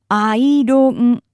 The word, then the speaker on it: アイロン: The word for iron is simply pronounced the Japanese way. アイロン, アイロン.